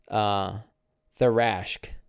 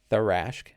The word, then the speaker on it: Tharashk: And is now kind of on loan to, I pronounce it as in third, Tharashk. Yeah, Tharashk. Tharashk. We're going to go with Tharashk.